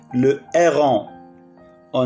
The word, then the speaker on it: héron: Au bord de l'eau vivent les animaux comme le canard, le héron. On ne prononce pas H.